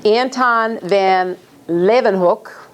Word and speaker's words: Anton van Leeuwenhoek: I'm going to try to say his name, Anton van Leeuwenhoek, that's how you say it, at least that's